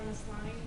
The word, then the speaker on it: Maslany: and Tatiana, and I'm gonna say her last name wrong, she was maybe 10 years old in the Maslany? last one. Hmm? Tatiana Maslany.